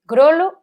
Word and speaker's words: grolo: A ver, pronúnciase con o pechado. Vale, grolo é con o pechado.